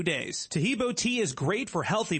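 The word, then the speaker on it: Taheebo: Tahibo is spelled T like Tom, AHEEB like boy. Oh, that's Tahibo, and then continue with the word tea, and then the word club.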